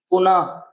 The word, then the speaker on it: पुनः: तो याद रखना, ह की तरह, जैसे कि अतः, देखिए ह की तरह होता है कि नहीं, पुनः, ठीक है, तो याद रखना ये ह की तरह होता है।